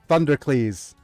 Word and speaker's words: Thundercleese: I mean, it's just Thundercleese. It's I mean, it's Heracles and Thunder, right?